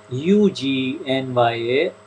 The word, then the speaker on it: Agnya: It is not ego, but rather it's not really ego, but rather Agnya, and it's pronounced Ugnya, Agnya, not Agnya.